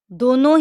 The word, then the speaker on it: the: दोनों ही प्रोनाउंसिएशन ठीक है।